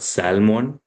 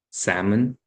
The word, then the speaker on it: salmon: It's not salmon, salmon.